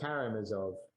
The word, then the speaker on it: Karamazov: Karamazov.